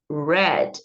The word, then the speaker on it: read: vocês vão ler aí a pronúncia igualzinha a palavra vermelho em inglês então lembrem que o